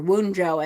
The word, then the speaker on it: Wunjo: If it stops and there is no line that continues, that is Wunjo or Wunjo, I've heard it pronounced also.